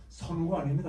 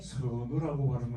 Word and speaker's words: 선우: 어, 선우가 아닙니다. 여러분, 선우라고 발음을 해야 됩니다. 길고 높은 의미입니다. 우리 말은 착하다, 잘한다 할 때는 착할 선자를 써 놓고 선우라고 하지 않고 선우라고 해야 맞습니다.